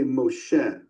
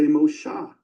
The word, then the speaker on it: Moshe: in the Babylonian pointing they don't say Moshe for Moses which we do in Tiberian Hebrew they say Mosha see that